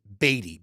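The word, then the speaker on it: Badie: it is it is in the Broncos official pronunciation guide as Batty B A Y hyen de on the pronunciation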